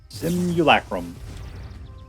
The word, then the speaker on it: Simian Simulacrum: Simian Simulacrum. That's how you say it. Boy, I've pronounced that word like a billion times. Couldn't say it there for a second. Simulacrum.